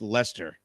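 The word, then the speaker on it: Leicester: just tuning in also I believe it's pronounced Lester so that's a strange British thing right there John super chat screw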